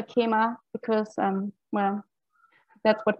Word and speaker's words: Khemā: french and also because in sanskrit uh kima's name is of course pronounced sema um but i'm i'm still going to call her keema because um well that's